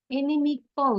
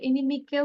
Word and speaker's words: inimical: এনিমিকল, আমরা যেটা বলি এনিমিক্যাল বলবো না, ইটস জাস্ট কল, এনিমিকল, এনিমিকল।